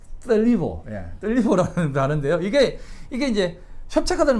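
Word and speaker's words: θλίβω: 그리고 협착하다는 말은 떨리보라고 하는, 이게 이제 번데기 발음이에요. 떨리보, 떨리보라는 단어인데요.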